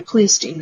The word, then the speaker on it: Pleistocene: No, anyway, Pleistocene is how it's pronounced.